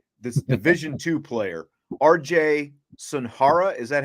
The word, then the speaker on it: Sunahara: about this guy, this Division II player, RJ Sunahara. Is that how you say it? Sunahara.